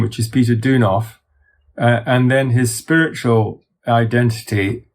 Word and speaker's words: Peter Deunov: to pronounce his name because i'm afraid i'll mispronounce it well there are he has he has his family name which is peter deunov and then his spiritual identity um is being